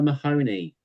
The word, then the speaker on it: Mahoney: It rhymes with Looney. It's Connor Mahoney.